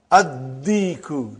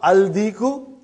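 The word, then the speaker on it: الديك: And when you will pronounce them with Alif Lam, you will not pronounce Lam. Okay, look at this, brother. Addiku, not Aldiku.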